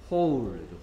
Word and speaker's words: whole: 계속해서 전체의 홀. 홀. 홀. 홀. W가 발음되지 않고요. 홀. 구멍이란 뜻의 홀하고 발음이 거의 똑같습니다.